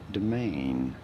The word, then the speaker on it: demesne: the feudal system how do you go about pronouncing it domain okay domain it is domain i don't know